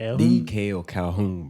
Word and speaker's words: Makael Calhoun: a big thing we are honor to have D kale calhon is that how you pronounce it yeah that's how you pronounce it D kale calhon bro yeah with us today man so we